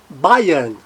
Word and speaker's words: Bayern: O AY, semivogal Y, AY também faz o som, fonema de I, Bayern.